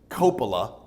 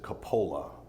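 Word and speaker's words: Coppola: Ford they pronounce it Copa we pronounce it Kola now depending on where you are in the world both ways are correct because it's a very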